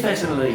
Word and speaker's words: Thessaloniki: Which one is it? Thessaloniki. It is Thessaloniki. It is I've been saying Thessaloniki. it right, and everyone else is saying it wrong.